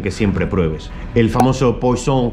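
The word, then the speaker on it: poisson: siempre pruebes el famoso paulson que no sé francés pero es más o menos como lo pronuncian ellos pues son que tras la comida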